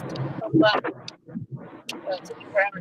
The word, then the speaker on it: Tupelo: And so I thought it was pronounced like Tupelos. But it's Tupelo.